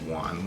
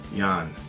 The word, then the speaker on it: Jan: It's not Juan. Juan is Spanish. Oh my goodness. How do you say it? Jan.